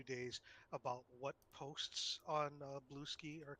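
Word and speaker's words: Bluesky: Ooh, I was given invite, and I am now on Blueski. nice. It's not pronounced Blue Sky. It's Blue Ski.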